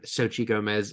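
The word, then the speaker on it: Xochitl Gomez: So, um I just remember that she pronounced her name Sochi Gomez.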